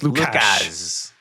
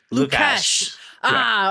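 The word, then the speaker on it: Łukasz: I'm not the authority on Polish pronunciation, but I believe the S and the Z are sh. So I believe it's Lukasz. Lukasz.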